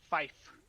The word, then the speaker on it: five: that's how it looks five is five like the instrument then at six seven